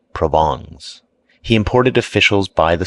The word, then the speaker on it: Provence: He became subservient to the French element and his wife's relatives from Provence, pronounced Provongs.